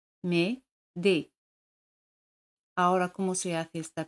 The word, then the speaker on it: m'aider: Como tenemos dos vocales, elimina la letra E. Se dice m'aider. Me-de.